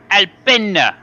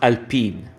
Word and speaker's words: Alpine: an italian team it's albino no no no it's a french team and it's pronounced it's pronounced alpine oh it's a finished